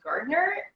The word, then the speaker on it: Gardiner: since i've become a gardener people drop the di and pronounce the garner when they say it